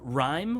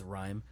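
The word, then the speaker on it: Rime: Uh, Rhyme, which is R I M E, so I might be pronouncing that wrong, but I think it's Rhyme.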